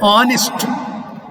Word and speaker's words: honest: Look at here, the word honest. We are not pronouncing this word ha, but a. Therefore, H is silent.